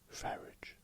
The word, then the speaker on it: Farage: Farage.